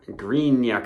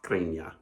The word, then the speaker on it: Greena: Hello, we got the first batch of Greena Colada. I didn't put the accent over the N, but I'm going to say it like Greena.